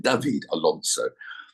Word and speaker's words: David Alonso: um um David Alonso David I pronounce it in Colombian David Alonso he seems to be